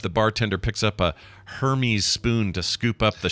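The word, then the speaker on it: Hermès: It's pronounced Hermes. Is it Hermes? Spoon. It's not Hermes. I want it to be Hermes. It's not Hermes. No, it's Hermes. Even though that spells Hermes? Even though it's spelled Hermes, yeah. Oh, English mixed with other old languages.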